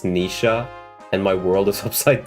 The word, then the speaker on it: Noish: I found out Noish from FE4 translation is pronounced Nisha, and my world is upside down now.